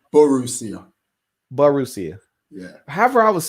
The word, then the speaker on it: Borussia: Borussia Dortmund. Borussia. Yeah. How am I supposed to say that? Oh, it's Borussia.